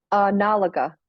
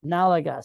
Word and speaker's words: N'alaga: but is it Nalaga or how do I pronounce that? Nalaga. Nalaga.